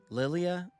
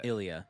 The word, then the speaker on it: Ilia: Lilia. Ilia. Uh uh. Ilia. Yeah, aren't you? Ilia. Cuz it's it's an I. It's a capital I L I A.